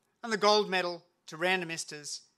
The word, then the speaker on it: Randomistas: it's no coincidence that random esters rhymes with sand and esters and as a famous